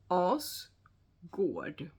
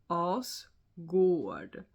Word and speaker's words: Asgård: No, that's not a Swedish pronunciation. You can try and say it with me. Asgård. One more time. Asgård.